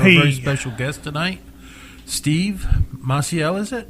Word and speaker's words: Maciel: We have a very special guest tonight, Steve Maciel, is it? Maciel, it's pronounced.